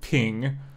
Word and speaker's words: PNG: it sping CU apparently PNG is actually pronounced ping so therefore this is